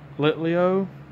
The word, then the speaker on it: Litleo: A Litleo.